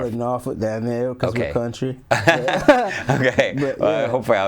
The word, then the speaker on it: Norfolk: an hbcu undergrad uh norfolk state university i pronounced norfolk right is that norfolk we call it norfolk down there okay hopefully i was close enough